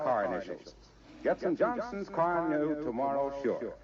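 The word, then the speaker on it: Carnu: Get some Johnson's car new tomorrow, sure. Car new is spelled C-A-R-N-U.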